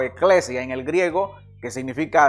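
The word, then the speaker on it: ἐκκλησία: griego que que que en griego se pronuncia eclesia que básicamente significa asamblea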